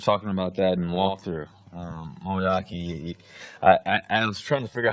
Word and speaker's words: Moeaki: Moeaki, I was trying to figure out how to pronounce his name. And my quarterback coach, it's like teriyaki, but with a little mo in front of it.